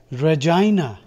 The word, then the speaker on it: Regina: at this word uh it is pronounced Regina Regina uhuh what Regina that's